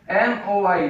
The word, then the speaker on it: moi: Like M-O-I, moi. Moi means me. Moi. M-O-I.